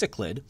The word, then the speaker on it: cichlid: famous example this are what we call the cichlid fish I know that says chiclet but it's pronounced cichlid these are found in Africa and South America